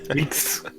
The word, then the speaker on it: Aches: His hive brother, how do you say your name again? Aches. Sorry? Aches. Aches? Aches? Aches. Aches. Oh, aches and pains.